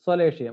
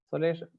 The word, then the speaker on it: solatium: This includes solatium. What is solatium? Solatium. I pronounce it as a solatium. It is a Latin word actually.